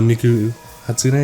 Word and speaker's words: Miku Hatsune: For those who don't know, Miku Hatsune, is that how you pronounce it?